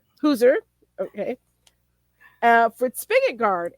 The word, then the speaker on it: Huser: Today's guest is Hooser. And did I pronounce that right? Close. It's Huzer. Hooser.